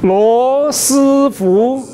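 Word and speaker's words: 罗斯福: Lo Si Fu. One more time. Lo Si Fu.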